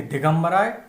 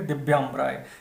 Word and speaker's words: दिव्यांबराय: दिव्य अंबराय तो पहली बार में आप कहेंगे दिगंबराय वो भगवान भोलेनाथ के लिए है और दूसरी बार बोलेंगे दिव्यांबराय ये सही इसका उच्चारण होगा।